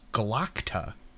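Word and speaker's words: Glokta: But I hear it pronounced. I know it's Glockta.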